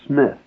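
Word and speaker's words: Psmith: called leave it to Smith spelled with a p p P Mi i t h leave it to Smith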